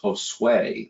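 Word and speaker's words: Josué: with the U, and I know now it's Josue. It's like sway your hips.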